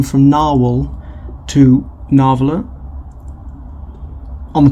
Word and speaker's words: Nahvalur: and told that the new spelling you've actually pronounce it the same way as it was spelled before narwhal here's the new logo anyway which is a